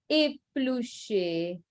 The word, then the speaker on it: épluché: and the pronunciation is étudiant, détail, épluché. Okay, so A is the pronunciation.